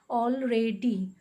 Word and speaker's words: already: And D, D-Y-D, already. Three different syllables make the word already.